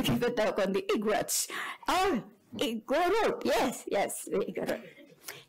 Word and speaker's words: Igorot: In Ilocano, when the Ilocano says Igorot, with the emphasis on the first word, it's bad. It's very, very limited.